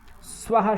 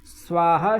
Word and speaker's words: स्वाहा: ह ये वर्ण है इनके पहले अगर सकार है तो उसका उच्चारण सा की भांति ही होगा जैसे स्लेट शब्द आपने सुना हो स्लेट है स्वाहा शब्द है स्वाहा शब्द है और स्वस्ति